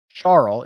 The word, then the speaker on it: Charl: scary let's check uh schwarzel charles is actually how you pronounce that in case anybody was wondering um i'm encouraged by